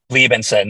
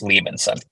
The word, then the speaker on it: Liebensohn: It's Liebensohn. The H is silent, so just Liebensohn. Liebensohn.